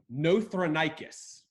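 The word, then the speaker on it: Nothronychus: I believe seven eight yeah seven I can pronounces rightly no throne I kiss no throne I kiss yeah he knows yep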